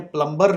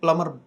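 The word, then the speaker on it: plumber: इसको याद रखिएगा, यहाँ बी साइलेंट है, इसको आपने प्लम्बर नहीं पढ़ना, इसको आपने प्लम्बर।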